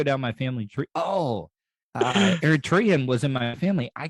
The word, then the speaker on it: Eritrean: How do you pronounce it for it again? Tyrion. It was, I know. Eritrean.